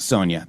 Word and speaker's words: Sonia: Her name is pronounced Sonia. Thank you so much, Caesar Girl. I appreciate that. So, Sonia, I got it right.